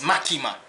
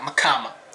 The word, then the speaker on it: Makima: your ass up too it's makima not makama or whatever how they pronounced it like Columbo with a